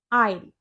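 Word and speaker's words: aisle: आईल।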